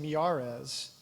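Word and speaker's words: Miyares: Lieutenant winom Earl Sears and attorney general Jason Marez I checked with him before that's how you pronounce his name because he was here earlier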